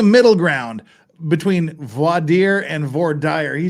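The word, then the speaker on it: voir dire: of you judge but we both know in our heart of hearts it's pronounced V dire but I'll take I'll take VA dire just to to keep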